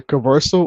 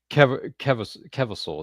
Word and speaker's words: Kevirsyle: Kev- You can say Keversal or Keversal. Kevisol. Is that how you say it? Yeah, but you can say Kevisol.